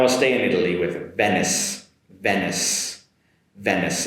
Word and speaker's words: Venice: Now I'll stay in Italy with Venice Venice Venice. It ends with a “sss” sound. Venice Venice and the next